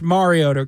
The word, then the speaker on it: Mariota: Yeah, well, that's just a pronunciation. It's still wrong. They kept saying it through his whole career. It's Mariota, correct?